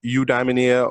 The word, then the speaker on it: Eudaimonia: Eudaimonia.